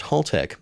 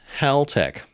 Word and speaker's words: Haltech: The first thing you need to know about Haltech is that it's not pronounced Haltech, it's Haltech. Apparently, it was started by a guy named Hal.